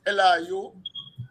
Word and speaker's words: Elihu: Eliu, right? Yeah, yeah, it's pronounced Elihu.